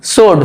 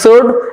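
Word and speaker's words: sword: সোড, সোড মানে তলোয়ার, দেখো এস ডব্লু থাকলেও এখানে এস উচ্চারণ হচ্ছে, শুধু এস ও আর ডি, সোড এমনটাই উচ্চারণ হচ্ছে, অর্থাৎ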